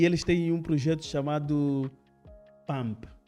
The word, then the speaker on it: PAMP: E eles têm um projeto chamado PAMP. Pronunciei bem, não é? PAMP, correto.